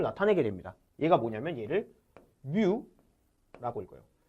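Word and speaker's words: μ: 얘가 뭐냐면 얘를 뮤라고 읽어요.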